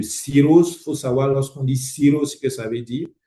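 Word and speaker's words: cirrhose: Faut savoir lorsqu'on dit sirose ce que ça veut dire sirose ça s'écrit c'est ce que vous voyez là à l'écran C I2 RH O sirose.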